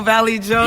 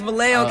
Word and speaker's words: Vallejo: Vallejo Valley Joe. Yeah. Who told you that? Him? Maybe. That is. Yeah, maybe. Yes, Vallejo, California. That's how you pronounce it.